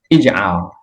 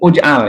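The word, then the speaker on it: اجعل: di sini i ya Mengapa I karena huruf Ain fi'ilnya ya tengahnya itu dibaca a Ijal bukan ujal ya tapi Ijal ya dan bukan juga ajal enggak ada ajal untuk fi'il fi'il Amar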